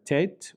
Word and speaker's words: tet: The next letter is the letter tet, which makes a T sound, like in the name Thomas.